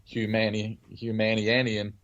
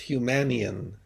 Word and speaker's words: Humanian: Uh, yeah, actually, the term is Humanian. Humanian. Oh, I put too many syllables.